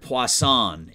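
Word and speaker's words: Puason: hang on a second somebody gave me the pronunciation let me find it here because i was saying it wrong i want to make sure i get it right poisson poisson there we go robert poisson is just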